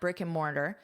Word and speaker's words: brick and mortar: The explosion of buy now pay later options online and at brickandmortar. Notice how I pronounce this as just a brick and so I completely reduce this to brick and brick and mortar mortar